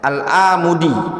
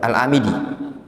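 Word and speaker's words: Al-Amidi: dilik lihat ya disebutkan oleh alamudi atau alamidi Bacanya apa alamidi alamidi ya dalam alihkam kata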